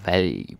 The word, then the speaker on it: valg: Or valg, but nobody really pronounces that G.